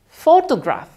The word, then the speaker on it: photograph: Ada photograph. Photograph. Ya, penekanannya di suku kata pertama.